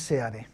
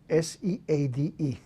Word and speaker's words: Seade: My first name is Jesus, with an accent on the U, Jesus, and last name is Seade, Seade.